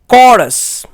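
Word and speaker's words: chorus: CH O R U S इसका correct pronunciation है कॉरस। इसकी स्पेलिंग के नीचे स्लैश में इसका प्रोनाउंसिएशन है। कॉरस की स्पेलिंग रिटन अल्फाबेट में लिखी गई है, जबकि इसकी प्रोनाउंसिएशन फोनेटिक अल्फाबेट में लिखी गई है। तो आपने देखा CH यहां क साउंड निकालता है।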